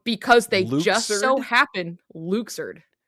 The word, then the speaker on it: Luxord: So, um, so his name is canonically pronounced Luxer. What? And we did we did not know this until Kingdom Hearts 3. Um, because they just so happen Luxer.